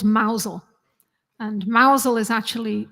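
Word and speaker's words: Mousehole: mouse mouse hole but it's pronounced by the Cornish people mousel so you don't want to go there and say can you tell me the way to Mouse holes that wouldn't be good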